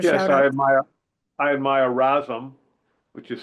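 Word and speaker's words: Razom: give a sh yes I admire I admire rasm which is spelled r a z o m they're in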